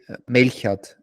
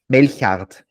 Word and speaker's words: Melchard: It's Melchard, and you say Melchard. Melchard. Yes, it's almost. It's more like, it sounds like something like when I've got a cold and I'm about to say it.